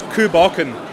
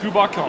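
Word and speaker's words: Cù Bòcan: How do you pronounce that? This is Coole Bocan. Coole Bocan.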